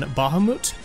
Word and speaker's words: Bahamut: how to pronounce it I think the consensus appeared to be on Bahamut as in m oot T Bahamut Bahamut I'll just